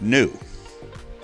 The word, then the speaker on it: Nu: unit of distance and new is the frequency so new is the Greek letter new pronounced new frequency is the number